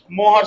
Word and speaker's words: Mohr: हाँ मोहर salt, basically मोर salt बोला जाता है, लेकिन मोहर बोलिएगा तो आपको ध्यान में रहेगा स्पेलिंग। मोर को आप MOR भी RE भी लिख सकते हैं। ठीक है, तो ज्यादा बेटर है कि हम MOHR मोहर सॉल्ट ही बोले इसको।